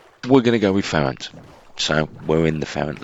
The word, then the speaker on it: Ferenc: We're going to go with orange beds, and we're going to take the prsent list. Again, prsent is the correct pronunciation I've looked up in Hungarian, though he was known as Franz.